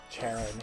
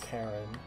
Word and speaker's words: Charon: a little suspicious of Charon here, or Charon, however you pronounce him in the original language. It's Greek, so probably a hard K.